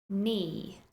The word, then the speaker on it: knee: it for example knife knife no no KNE knee knock knock and that's it for our silent letters moving on to the next group of